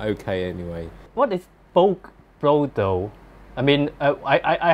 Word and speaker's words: Boke: Actually, it should be pronounced Boke.